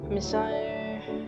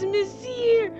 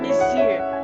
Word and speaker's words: Monsieur: Messiah. Meaning. Let's go with meaning first. Oh, it means sir. What? How do you even pronounce this? Oh, it's Monsieur. Oh, I'm so dumb. Monsieur.